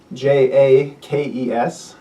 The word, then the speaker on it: Jaques: Uh her contemporaries spelled it in a variety of ways including uh J A ke. So if you phonetically pronunciate that Jake and for me that's the easiest to say which is why I've taken historical evidence and said I'm going to use that.